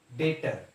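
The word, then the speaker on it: debtor: था उसके बाद नेक्स्ट बेटर इसमें बे साइलेंट होता है उसको डाक्टर नहीं बोलता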